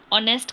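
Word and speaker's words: honest: ऑनेस्ट का एच क्या है? साइलेंट है।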